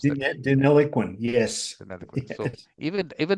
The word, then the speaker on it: Deniliquin: How do you pronounce that? Deniliquin, yes.